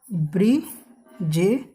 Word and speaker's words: ब्रिजेश: जैसे एक वर्ड है ब्रिजेश, क्या है? अब हमने ब बोला फिर र बोला, ब्री, फिर जेस।